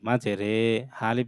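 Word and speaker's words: مَجْرٰىهَا: উচ্চারণ হয় না মানে উচ্চারণটা ইর মতো হয় না এর মতো হয় একারের মতো হয় তো এটা মাঝে রে হবে মাঝে রি হবে না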